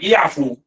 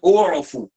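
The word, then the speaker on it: اُعْفُ: Okey, bukan i'fu tapi bacanya u'fu. Alif tu baris ni bawah.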